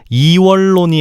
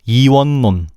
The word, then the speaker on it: 이원론: 이월론이 아니고 이원론.